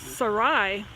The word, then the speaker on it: Sarai: to pronounce it, and she said it's pronounced Sarai.